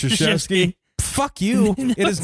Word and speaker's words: Krzyzewski: Not spelled the way it sounds. He's a real fucking prick. Krzyzewski. Oh. It's like, you're a fucking liar. Yeah. There's no. It's just actually, it's pronounced Krzyzewski.